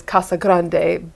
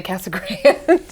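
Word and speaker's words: Casa Grande: and Tucson okay yes and I always say I that's how you say it is Kasa Grande but we if you're from there we just say Cass Grand or CG either one either one okay but yeah my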